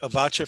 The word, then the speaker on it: Avotcja: Are you anybody familiar with Avacha, the poet Avacha from the Bay Area? Yes. Wonderful, excellent poet. Her name is spelled Avotcja.